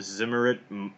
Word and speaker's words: Zimmerit: so this is from an article on the zimmerit mo a I said that I pronounce a word but it's Zi mm er